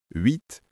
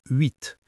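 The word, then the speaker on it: huit: Oui, je pense par exemple au chiffre 8. Il peut-être difficile à prononcer pour ceux qui n'ont pas ce son dans leur langue maternelle. Le H est muet et le son UI est particulier.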